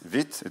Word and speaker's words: Vite: uh with what is vit it's actually pronounced the French way it is the French